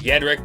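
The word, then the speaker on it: Jędrek: name Jedrek I mean it's pronounced I guess it was yet Rick but then it was Americanized to be pronounced Jedrek which translates to warrior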